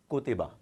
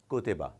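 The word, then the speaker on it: كُتِبَ: So ko, ti, ba, kutiba, kutiba. As we know that ordinarily no word can be pronounced without a vowel.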